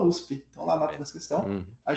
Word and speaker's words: USP: USP, a gente não fala USP, a gente fala USP.